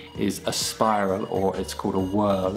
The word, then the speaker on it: whorl: And the third feature to look for is a spiral or a whorl, it's spelt WHORL.